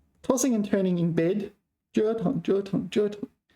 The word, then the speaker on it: 折腾: 折腾了半天结果什么都没做成 So this is like tossing and turning in bed 折腾 First tone 折腾 It's not normally first tone, so don't take a lesson here that jaw, that this one is normally pronounced first tone.